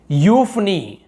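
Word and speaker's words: euphony: EU का उच्चारण यू होता है, देखो EU लिखा हुआ है लेकिन हम उसे यू पढ़ते हैं, जैसे कि यूफनी, हम इसे यूफनी नहीं बोल रहे, यू बस बोल रहे, यूफनी सुरीली आवाज वाला।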